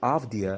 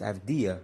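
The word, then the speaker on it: Avdija: many years and uh it's a serbian last name and it's pronounced af dia and not after okay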